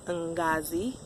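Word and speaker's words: Ngozi: first name and then her middle name is n Ghazi it's how you pronounce it it's nigeria nigerian for blessing is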